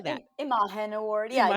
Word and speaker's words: Imagen: Imagen Award.